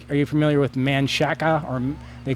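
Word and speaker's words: Manchaca: Like, are you familiar with Manshaka, or they call it Manshak, but it's spelled Manshaka?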